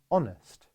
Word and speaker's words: honest: house hat 100 etc but the letter h is sometimes silent as in words such as honest hour and a few other